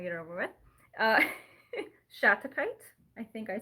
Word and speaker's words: Shattuckite: this first is because it's really hard to pronounce, and I just want to get it over with. Uh, Shattuckite. I think I said that right. Shattuckite.